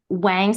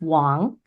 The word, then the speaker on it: Wang: last name um so Wang spelled w n g is actually not how we pronounce it in my native language right so in Mandarin it pronounced Wong like Wang sounds nothing